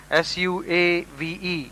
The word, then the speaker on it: suave: or polish a person who is very Suave s-u-a-v-e is pronounced Suave means polished herbane refined sophisticated subordinate